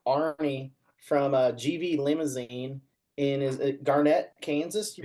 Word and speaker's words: Garnett: Tonight we have Arnie from GV Limousin in Garnett, Kansas. You pronounce it?